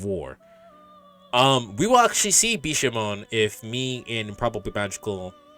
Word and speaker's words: Bishamon: I think it's actually pronounced Bishamon. Even though it has 10 at the end of it, I think you don't pronounce the 10.